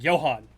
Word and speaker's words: Johannes: It may be spelled Johannes. It's pronounced Johan.